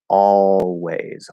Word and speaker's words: always: anyway with always uh the placement of the l here it's at the end of that syllable and so according to the fully enunciated word the full pronunciation it would be that that half l or that dark l sound all so you're doing fifth vowel ah ah and then you're going to that o all always always that's the full way to pronounce it and that's a perfectly